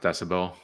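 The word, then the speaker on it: dcbel: the company or yeah it's called dcel but pronounced decibel I don't know oh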